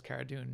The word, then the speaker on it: Cara Dune: actor whose carrot does Cara dune Gina Carano mm-hmm Cara I'm sorry Cara dune she says it should be pronounced cara dune because it's actually based on her last name Carano she's she's a great